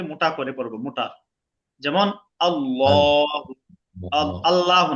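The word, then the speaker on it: الله: নিয়ম এই যে আল্লাহ শব্দটা লিখলাম আল্লাহ তাই না এই শুধু আল্লাহ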